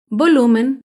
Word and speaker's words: volumen: es la palabra volumen el volumen se acentúa en la penúltima sílaba pero no lleva tilde porque termina en n